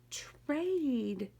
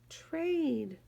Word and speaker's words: trade: Tur is a special sound. A is long. E is silent. Tur, aid. Tur, aid. Trade. Trade.